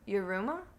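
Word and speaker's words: Yiruma: river flows in you by your rooma i might be pronouncing it wrong y-i-r-u-m-a that's how it's spelled that sounds accurate enough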